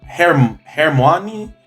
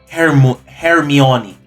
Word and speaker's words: Hermione: I'm Hermione Granger. I'm Hermione Granger. Ranger. Her name is Hermione, then why is it spelled Hermione? What? I'm Hermione Granger. Hermione. Her name is not pronounced like how it's spelled.